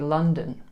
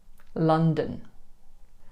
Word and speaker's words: London: How about the capital city of England? London? You guessed it, it's actually London. London.